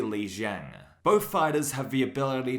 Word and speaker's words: Zhang: but in this video I do pronounce Jang as Zang I'm sorry enjoy the